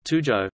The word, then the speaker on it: tujuh: Tuju is pronounced and was spelt Tujo, Pili as Pila, etc.,